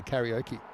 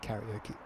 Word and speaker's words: karaoke: Like, the right way to say karaoke, hate to break it to you, isn't karaoke. Karaoke.